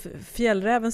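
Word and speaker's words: Fjällräven: our nons Swedish listeners if Fel Raven sounds familiar we are saying now how it's pronounced in Sweden but maybe other other people say F Raven or something like that I don't know I have no idea pronounce it in English uh but it's called f Raven if you want to say it correctly it's the company behind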